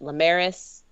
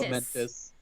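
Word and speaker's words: Lamentis: We cut back to Loki and Sylvie facing down their demise and the apocalypse on, was it Lamaris? Is that how that's pronounced? Lamentus. Lamentus. Yeah.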